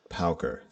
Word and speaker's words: Pauker: So, Mikey Pauker, pronounced Pauker, is a devotional rock artist from Laguna Beach, California.